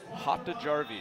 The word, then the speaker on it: Hautajarvi: Hang on, pronounce that again, the last name. Hautajarvi.